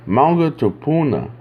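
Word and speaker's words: maunga tupuna: and say that again manga tuna I believe is the more so the proper pronunciation in case I didn't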